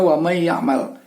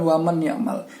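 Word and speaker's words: ومن يعمل: mereka sudah tahu bacanya wamayakmal kita di Indonesia dengan adaptasi telah makanya kita tahu kalau bacaannya wamayakmal bukan waman ya'mal itu adalah contoh Kenapa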